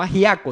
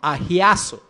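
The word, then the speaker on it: ἁγιάζω: La palabra griega que se utiliza ahí se puede pronunciar como agiazo. No agiaco, sino agiazo, con H y con Z.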